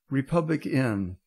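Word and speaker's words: RepublicEn: about this stuff with it's called Republic in but it's spelled Republic em yes and it's um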